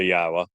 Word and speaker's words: Yahowah: other places are question how do you know that yah's name is pronounced yahwa you know uh languages